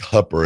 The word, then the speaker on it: Hooper: thin a little bit do you pronounce it where she's from Hooper or Hopper is it Hopper I think hupper H Nebraska Nebraska Nate